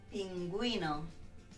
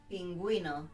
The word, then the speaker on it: pingüino: Ge, gi, but bilingüe, pingüino. Bilingüe, pingüino. We pronounce the U on those 2 words.